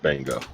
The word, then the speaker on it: Bungo: it's spelled right yeah it's just pronounced bingo don't confuse me or